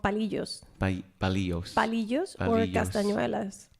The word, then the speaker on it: palillos: And also they are called palillos.